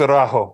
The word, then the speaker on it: Araújo: I think it's Araujo, but yeah, you Araujo.